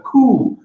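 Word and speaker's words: coup: sorts it's called a cool a cool is a funny color it's a french word really looks like coop doesn't it it's pronounced asylum p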